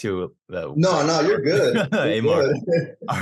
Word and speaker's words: Amar: I actually like to pronounce it Amar, but I mean, my bad. No, it's cool. Like Mitch Durrell, that's a homie. He pronounces it Amar too on his YouTube reaction videos. But yeah, I've been meaning to say it's actually Amar.